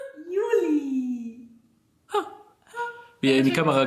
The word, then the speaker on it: Yuli: Juli. Wie er in die Kamera guckt. Also, der kleine Racker heißt Juli. Ausgesprochen wie der Monat, geschrieben Y-U-L-I.